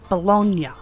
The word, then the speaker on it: bologna: to pronounce it because I've heard it pronounced bologna and I think there's a difference. I'm not sure. Anywh who, Big Daddy says it's bologn.